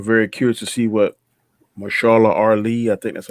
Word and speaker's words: Mahershala: I am very curious to see what Marshala Ali, I think that's how you pronounce his name. Yeah, Mahershala Ali.